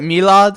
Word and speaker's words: Milad: a fellow malad and the pronunciation of my name is malad as i just said it or some people in my country call it milad but i'm a substitute